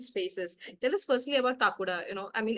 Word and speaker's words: Kakuda: I'm not sure if I'm getting the title correct pronounced. Kakuda, right? Kakura, yes. Kakuda.